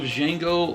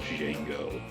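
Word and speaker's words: Django: and deliberately and says the D is silent and the old man goes yes I know that old man was Francis Nero the original jeno so the storyline of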